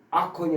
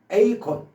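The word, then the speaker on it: acorn: 이거는 아콘이 아니라 A콘입니다. A콘 A콘 콘에 콘 앞에다 A를 붙였어요.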